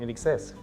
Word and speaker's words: INXS: So that was one of the first bands that I saw that I really enjoyed, in excess.